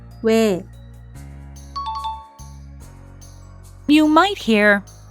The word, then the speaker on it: 왜: 오, 아, 와, Next we have 왜, It's a compound vowel, but don't pronounce it as 2 individual sounds because the vowel is in 1 syllable. 왜, 왜, You might hear 왜,